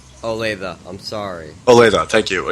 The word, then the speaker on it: Olathe: Odypia? What? I think I said it wrong. Olathe, I'm sorry.